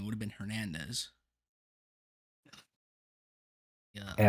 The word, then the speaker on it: Hernandez: it would have been Hernandez. Yeah, the R. daycare center I worked at, there was like 7 Hernandezes, The H is silent.